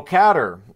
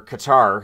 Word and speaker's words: Qatar: of a developing story so catter or Qatar however you want to pronounce it of course they